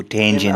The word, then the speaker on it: tangent: really afraid of yeah there's the tan and the g the first stress in the first syllable there's the Gent so tangent our languages get be